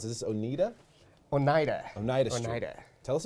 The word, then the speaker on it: Oneida: How do you pronounce it? Is this Oneida? Oneida.